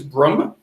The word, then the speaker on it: Brumme: It's kind of a tongue-in-cheek thing because his last name is Broom, Brumme. But everybody mispronounced it as Broom.